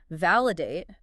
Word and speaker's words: validate: Validate, but with a heavy emphasis on the letter I, like validate to fit the acronym.